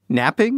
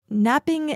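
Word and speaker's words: knapping: and made into tools napping like they needed to take a nap from making tools napping is a way of shaping a stone and it's actually spelled with K it's not like falling asleep taking a nap different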